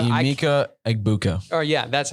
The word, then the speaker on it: Emeka Egbuka: Mbuka or Emeka Bunka. Emeka Egbuka.